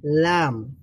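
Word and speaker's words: لام: আচ্ছা, এক পাশেও আপনি দিলেও লাম হবে, দুই পাশে দিলেও লাম হবে, দদের মতোই।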